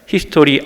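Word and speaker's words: Historie: 그거 독일어로 말하면 발음은 똑같은데 히스토리 IE로 끝나요.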